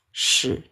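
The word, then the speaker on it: 矢: Shi. Ini bacanya shi. Yang berarti shi ya. Oke, shi. Shi. Ya, nada ketiga shi.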